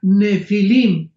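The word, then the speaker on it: nephilim: pH intermedia Ne pilim se pronuncia nefilim en el original hebreo esta palabra en su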